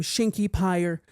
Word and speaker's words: Shinki Pyre: Hello guys, I am Shinki Pyre. The name rhymes with fire, and welcome back to another Shinki Reacts, or whatever you want to call it, right?